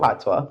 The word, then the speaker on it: patois: Patois. Yeah, I don't know how to pronounce it. No, it's okay. You didn't say it wrong, but it's patois.